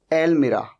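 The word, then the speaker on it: almirah: सबसे पहला ध्यान तो ये रखना है कि आज के बाद आप कभी भी इसे अलमारी मत कहिएगा, इसे कहिएगा एलमीरा, एलमीरा, ठीक है।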